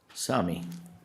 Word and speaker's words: Sami: Sami, did I pronounce that right?